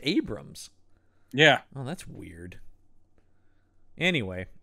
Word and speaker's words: Abrahams: drink whatever maybe it's it's spelled Abrahams but I think you're right that it's pronounced Abrams yeah oh that's weird